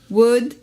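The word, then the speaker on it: would: dit ça c'est dit le elle ne se prononcent pas comme dans code wood chaude away à nouveau s'il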